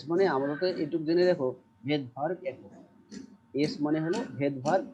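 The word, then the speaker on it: Svedberg: পেয়ে যাব এস মানে আপাতত এটুক জেনে দেখো ভেদ ভার্ব একক এস মানে হলো ভেদভার একক তাইলে মানে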